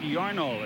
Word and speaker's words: Yarnall: Ed Yarnall is the way he pronounces it.